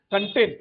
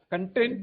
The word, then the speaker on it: content: Firstly, there are two ways of pronouncing it. The spelling is the same. One is content. What you said that doesn't mean information. Content means you are happy.